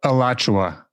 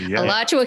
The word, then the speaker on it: Alachua: is shoot i forgot steve how do you pronounce it wait wait oh oh oh alachua alachua county florida it's an october 2018 verdict so